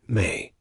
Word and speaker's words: me: The Sumerianss believed that the gods had set up a fundamental cosmic principle called me pronounced may.